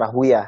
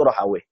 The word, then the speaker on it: Rahawayh: Ada Imam Ishaq bin Rohawe, kemudian ada yang bacanya Rahwiyah, ya. Cuma yang disahihkan oleh banyak ulama itu Rohawe.